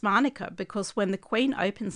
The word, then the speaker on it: Manuka: However, I recently read that that's actually a myth and Monica has been the official pronunciation in CRA since the 1920s.